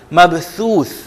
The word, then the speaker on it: مبثوث: اوپری حصے سے، اور آپ پریشر بالکل بھی نہیں ڈالیں گے زبان پہ۔ مبثوث، یوم یکون الناس کالفراش المبثوث۔ تھوڑا سا ذرا تلفظ میں مشکل ہے کیونکہ ہم ان طرح کے الفاظ کی عادی نہیں ہیں، لیکن اس پہ آپ